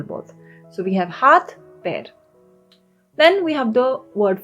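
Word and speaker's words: पैर: Okay, so it's called pair. Pair. Like the English word pair, pair. That's the same pronunciation.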